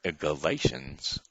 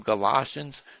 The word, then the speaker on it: Galatians: with the Spirit is Galatians or Colossians. Some people call them Galatians, some people call them Galatians. Now, I would say Galatians because Colossians are like boots.